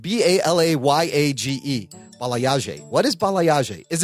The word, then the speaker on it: balayage: Bal, it's spelled B A L A Y A G E.